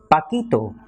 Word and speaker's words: Paquito: That is why Spanish requires a spelling change to maintain the sound. So Paco becomes Paquito with a P-A-Q-U-I-T-O.